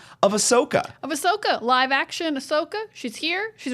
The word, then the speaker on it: Ahsoka: And my brain just kind of added an extra syllable, and I've never been able to course correct.